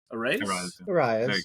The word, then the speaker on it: Arraez: Am I pronouncing that right? Luis Arraez? Arraez, yeah, you're good.